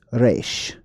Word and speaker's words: resh: All right, so the letter R basically meant head, and it's pronounced resh.